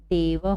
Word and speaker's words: देवः: हम इसको पढ़ेंगे क्या, यहाँ पर ह का उच्चारण होगा। तो ये हमारा पढ़ने की दृष्टि से हम इसको पढ़ सकते हैं इस तरह से, देवः। क्या पढ़ेंगे हम इसको?